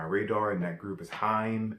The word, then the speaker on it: HAIM: new on my radar and that group is time it's spelled H a I am it's a group